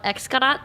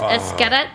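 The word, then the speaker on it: Xcaret: the steam park called x-carat or no but this theme park and it's open yes it's uh actually pronounced eskeda so it's kind of like let's get it where was all this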